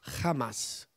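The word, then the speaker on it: חמס: dire non è possibile hamas in ebraico si pronuncia hamas significa violenza e morte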